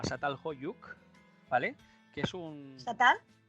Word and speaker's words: Çatalhöyük: ¿Satal? Çatalhöyük, se escribe con la C trancada.